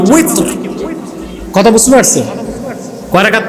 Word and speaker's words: উইতর: এটাকে বাংলাদেশে বলে বেতের, উচ্চারণটা হবে কি উইতর।